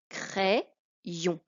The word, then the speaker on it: crayon: Ici, la moitié du Y sert de I pour aller avec le A, ce qui fait le son est de craie. Et l'autre moitié du Y va servir pour faire la syllabe ion.